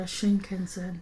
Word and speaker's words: Shinkansen: One morning we got on the Shinkansen, did I say that right?